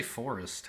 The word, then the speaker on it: forest: You could even say forest has a silent E. Like you don't really pronounce that E, right? Forest. You go from r to st and like don't bother with the schwa in the middle.